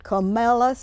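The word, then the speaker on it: Comilus: Camellus That's pronounced is your Camellus.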